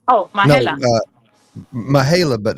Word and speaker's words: Majela: Oh, Majela.